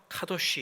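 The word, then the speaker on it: קדוש: 여러분들이 레위기를 읽으실 때는 거룩이라고 하는 관점, 히브리 말로 카도시 이렇게 발음을 하죠.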